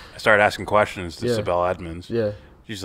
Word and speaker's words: Sibel Edmonds: Sibel Edmonds.